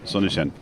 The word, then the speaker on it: Sonnichsen: How do you pronounce this? You are the good one. Sonnichsen.